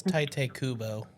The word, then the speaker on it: Tite Kubo: It's Tite Kubo.